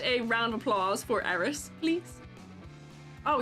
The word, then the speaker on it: Eris: Can we get a round of applause for Eris, please? Oh, your name is said like Aerith from Final Fantasy, but spelled completely different.